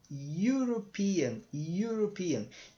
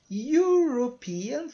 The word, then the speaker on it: European: a letra i tá então você falar you European European tem dois sons tá então como você tem